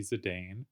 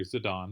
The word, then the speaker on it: Zidane: all right we're watching losers finals of Essie zidane or zidane as it should be pronounced I didn't realize I just played my